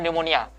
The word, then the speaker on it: pneumonia: sering tahu ya bahwa ada kata-kata anemonia kita tulisannya pneumonia tulisannya ya Tapi bacanya dimonial jadi pneumonia itu adalah